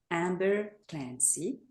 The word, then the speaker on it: Amber Clancy: Uh so, today's podcast special guest is Amber Clancy, if I pronounce it correctly.